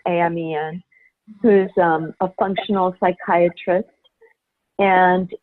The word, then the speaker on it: Amen: Daniel Amen it spelled like prayer amen I am Ian who's a functional psychiatrist